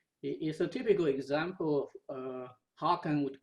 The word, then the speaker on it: Haken: Haken, Haken.